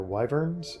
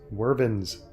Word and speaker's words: wyvern: I would assume our wyverns and I will mention once again that pretty much my entire life I've pronounced them incorrectly as wormans just some weird quirk